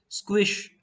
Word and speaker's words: sqsh: we will be using the sqsh pronounced squish as an interactive database